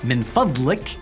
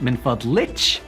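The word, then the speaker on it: من فضلك: Well, it's min fadlik to a guy, and min fadlich to a girl. Min fadlik, min fadlich.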